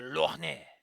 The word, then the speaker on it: lorgnette: But it can also be called a lorgnette. Lorgnette. It's French, so you just ignore half of the fucking syllables.